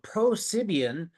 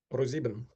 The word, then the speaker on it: ProSieben: All right, today we have Sergei Kriger, a software engineer at ProSibian. Did I pronounce that right? ProSibian? ProSieben.